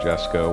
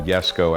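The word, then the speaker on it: Jesko: almost 4 years for my Kix egg Jesco or yesco as the Swedish say it properly and I did the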